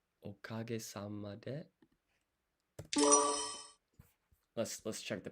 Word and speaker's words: おかげさまで: So it's okage sama de. Let's check the pronunciation real quick.